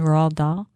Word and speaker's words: Roald Dahl: Seuss and Roald Dahl.